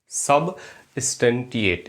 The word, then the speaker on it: substantiate: सबस्टेंटिएट spelling देखें, SUB सब, STAN stun, TIATE। तीन जगह तोड़े इसको। सब स्टन STAN, सब स्टन टिएट TIATE।